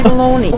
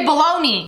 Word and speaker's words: bologna: the bologna you say baloney we don't pronounce the g she took that personally we say baloney we as in the